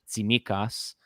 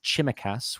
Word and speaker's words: Tsimikas: but for some reason he was pronouncing Tsimikas as Chimikas with a ch, and then he was